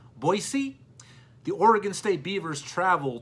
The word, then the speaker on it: Boise: boisey State Broncos that's right the locals do not pronounce it as Boise it's boisey the Oregon State Beavers travel to Fresno State